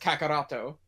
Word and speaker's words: Kakarot: Kakaroto in Japan. Yeah, so Vegito is because it's pronounced Kakaroto.